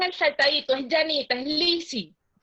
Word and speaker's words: Lizzy: saltadito, es Janita, es Lizzy. Es Lizzy. Pero no es con una sola Z. No, es con dos Zetas, pero la pronunciación es como si fuera una Z.